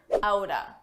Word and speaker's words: out of: Let's talk about a common reduction, outa. Out of, side by side, you can pronounce as outa, outa.